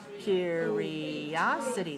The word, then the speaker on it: curiosity: next word that's curiosity curiosity how many syllables do you hear curiosity five right where's the stress curiosity three okay so watch me